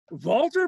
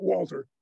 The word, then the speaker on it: Walter: So among the very first projects on this telescope, Walter Bottom, I try to use the German pronunciation of his name, not Walter, Walter.